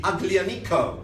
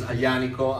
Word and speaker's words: Aglianico: speaking people say, the Aglianico. Please don't say that, it's Aglianico. I know that the Y is a sound that is not very easily pronounceable, but please do make an effort.